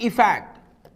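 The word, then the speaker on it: effect: इसे सही से मेरे साथ प्रोनाउंस करें। अफेक्ट अफेक्ट और यह है इफेक्ट।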